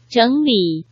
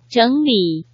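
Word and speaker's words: 整理: 삼성이 연달아 왔으니까 앞에 삼성은 이성으로 자연스럽게 발음이 되겠죠. 그래서 어떻게 발음하나요? 整理, 네, 다시 한번 들어볼까요? 整理, 선생님, 그런데 두 번째 발음을 삼성으로 발음한 게 맞나요?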